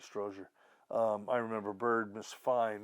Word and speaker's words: Strozier: strozier uh on this I think I pronounced his name wrong before but it's Frank Stroger I remember bird Miss